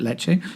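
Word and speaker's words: Ledaig: in a totally different led aig but we pronounce it leche it's a celtic word but this is not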